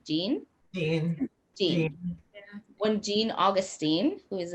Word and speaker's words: Jean: john john jean j-e-a-n how do you say that name gene when gene augustine who